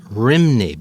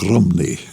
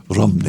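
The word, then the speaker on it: Rhymney: it the bells of rney but that's not accurate it is it that's how it's spelled r h y m n y but there they pronounce it more like Romney Romney rney and you know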